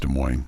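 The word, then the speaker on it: Des Moines: And I know it's pronounced De Moine. That's just kind of a me thing. De Moines.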